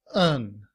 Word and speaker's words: and: In citation form, the word and is spelled like this. The symbol sounds like a. We have the letter N, N, and the letter D. D and. However, in reduced form, and is pronounced un and combined with up, it sounds like upen.